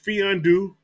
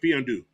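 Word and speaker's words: Mfiondu: It says the M is silent. It says Fiondu. That's his first name, Fiondu.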